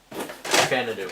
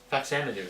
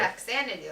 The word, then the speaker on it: Faxanadu: Fanadu. Is that how it's pronounced? Yes. Fanadu? Okay. Or Faxanadu, sorry. Faxanadu.